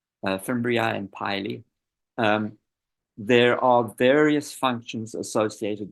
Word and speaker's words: pili: We don't worry about the difference between fimbriae and, this is pronounced pili. Fimbriae and pili.